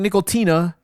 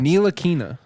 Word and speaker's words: Ntilikina: And when we were playing, y'all, Frank Nickel-Tina, that's how you say it, right? Nickel-Tina? Like a nickel. Tina.